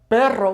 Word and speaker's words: perro: Carro, remember it's not caro because caro with the singular R would be expensive, just like perro with the singular R would mean but, okay?